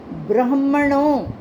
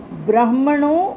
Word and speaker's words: ब्राह्मणो: गरी से ब्राह्मणो इसमें गलती होगी बहुतों की ब्राह्मणों उसके बाद एस साइलेंट है।